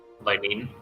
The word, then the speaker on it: Linene: How would you like pronounce her name? Linene.